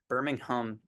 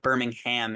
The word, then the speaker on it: Birmingham: So in Birmingham, Alabama, Birmingham, that's how they say it in England, but Birmingham is how we say it in America.